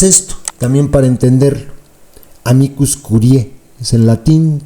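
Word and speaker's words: curiae: también para entenderlo amicus Curie es en latín no se pronuncia la a Entonces es Curie Qué es esto bueno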